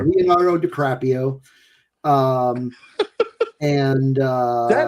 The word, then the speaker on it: DiCaprio: Uh, so it had it had, uh, Leonardo Caprio. Leonardo DiCaprio. Um, and, uh, that is not how you pronounce that.